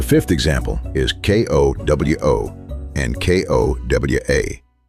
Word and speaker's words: ko-wa: The fifth example is KOWO and KOWA, 2 short words differing in a single final vowel.